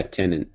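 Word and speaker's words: Tennant: tenant is that how you say it yeah tenant he's cool so I like the first one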